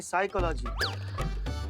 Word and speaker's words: साइकोलॉजी: पिसाई का लागी तो साइकोलॉजी नहीं साइकोलॉजी पी साइलेंट होता है तुम हो जा